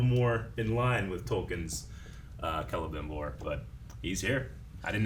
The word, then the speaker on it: Celebrimbor: Celebrimbor. Celebrimbor. I've always said Kel, I think, or Cel. One Cel. of those. Yeah. Anyway. It looks like it should be pronounced Celebrimbor. Like celebration, right?